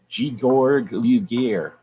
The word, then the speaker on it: Georg Luger: If you truly shoot 9mm, you hold your 9mm like this, with your pinky out, and you say Georg Luger, because that's the proper German pronunciation.